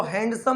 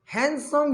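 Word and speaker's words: handsome: plus around एक हैंडसम इसको हैंडसम नहीं बोलना है दी साइलेंट हैंडसम यंग मां उसने एक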